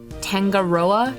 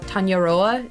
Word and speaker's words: Tangaroa: I'm Tang Tangaroa. Tangaroa. Tangaroa. Pronunciation is more like tong. Oh, okay. More like tongoa. No hard g like mango. Okay. Tanya Tanyaoa Tanyaoa.